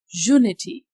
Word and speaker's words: unity: But in these other three words uniform, unicorn and unity, zu is producing sound. That is a consonant sound.